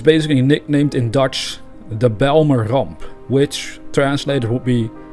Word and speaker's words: Bijlmer: be the balmer disaster although i can imagine americans might pronounce the words of belmer differently than i do because they might have no idea how to pronounce it dutch works right there's